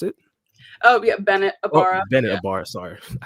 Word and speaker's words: Abara: name before we we started the Pod Amanda abara is that how you pronounce it oh yeah Bennett abara Bennett sorry I said it you can call